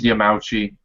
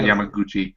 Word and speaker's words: Yamauchi: By the way, it's Yamauchi. It's not Yamaguchi.